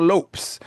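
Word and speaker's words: Lopes: He clarifies that while he clarifies that while Lopez is understandable, the correct sound he uses is closer to lops or lops.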